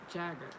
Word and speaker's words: Jagger: I keep saying his name wrong, but it's Jagger.